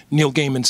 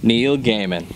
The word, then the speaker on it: Neil Gaiman: thing, which is why I love books like Neil Gaiman's Sandman. You know, again, I can't help but mention Jason Aaron's Thor, God of Thunder. You said it right that time. I said what? Neil Gaiman.